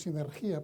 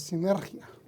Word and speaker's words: sinergia: que se llama sinergia muchas veces la mal pronunciamos y decimos sin energía pero es sinergia la interacción o cooperación